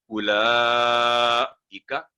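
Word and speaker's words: أولئك: उलाइका, आगे ये भी सेम मिस्टेक होती है, यहाँ पर वाओ नहीं बोलेगा।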